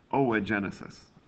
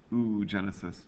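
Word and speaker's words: oogenesis: it's referred to as o Genesis it's tempting to look at it and call it oo Genesis but that's a mispronunciation there now the words start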